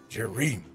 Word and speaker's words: Jerry: Jerry. It rhymes with dairy.